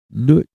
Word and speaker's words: Nwt: Nut is spelled NWT.